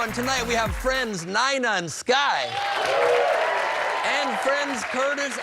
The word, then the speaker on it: Nina: Spelled Nina, pronounced Nina.